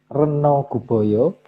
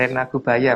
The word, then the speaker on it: Rena Gubaya: Slide ke-63, sementara itu Sang Hyang Reno Guboyo ditunjuk untuk mengendalikan hama berupa tikus. Rena Gubaya Mas bacanya.